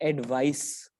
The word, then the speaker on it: advice: तो दोनों की प्रोनाउंसिएशन में थोड़ा सा फर्क है. There is this slight difference, hairline difference between the pronunciation of these two words. तो पहले वाले को हम बोलते हैं एडवाइस, सर, एडवाइस, okay. And the second one इज एडवाइज. इसमें जो एस है वो ज की साउंड देता है, ज.